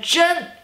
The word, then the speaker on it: 真: It is 你真漂亮你真漂亮你 you 你你 okay 你 which means you and the 真 first tone 真真真 which means so truly